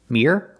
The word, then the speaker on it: mere: you clean it so we compared these two words Mir one syllable and mirror two syllables what is the first